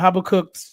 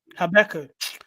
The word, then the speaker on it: Habakkuk: I think you took this chapter of Habakkuk, chapter 2?